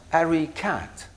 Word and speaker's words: Ari-Kat: came across some key expression a combined word pronounced harry kat harry is the past participle of a verb